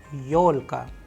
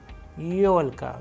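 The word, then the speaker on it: ёлка: We have used the Russian word yolka, yolka, where you can see the stress is on yo because it is also a vowel. That is why Yolka.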